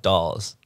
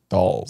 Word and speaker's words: Dawes: to a man like dolls by dolls dolls dolls stalls like the figurines no like dolls how do you spell it d-a-w-e-s dolls okay like all but with the in front of it dolls jared what do you